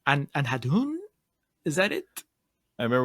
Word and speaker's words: Andhadhun: Anhadhun? Is that it? I remember we had a bit of difficulty trying to figure out the pronunciation of this in our episode as well. Andhadhun. It's Andhadhun.